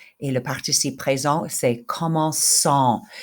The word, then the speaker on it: commençant: Commencer, nous commençons avec un cédia, et le participe présent, c'est commençant. We need to keep the cédia there to keep it a soft C.